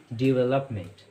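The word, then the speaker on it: development: इसकी प्रोनाउंसिएशन होती है डेवलपमेंट, डेवलपमेंट।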